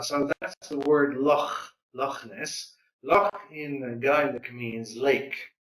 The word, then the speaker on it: Loch Ness: Jenny visits Lochner. Huh? So Jenny visited, okay, this is pronounced Loch Ness, right?